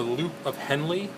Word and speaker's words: loop of Henle: area is called the loop of Henley and Henley is spelled h-e-n-l-e so that's the loop of henle and then once past